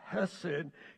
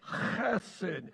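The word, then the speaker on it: חסד: Hebrew word is acid now I pronounced it just exactly the way it's supposed to be pronounced it's not acid it's acid if you don't get a little on you you haven't sent it right just don't get any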